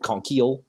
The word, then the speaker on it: Konkiel: be okay conk he'll it's actually like pronounced like con keel it's like conky all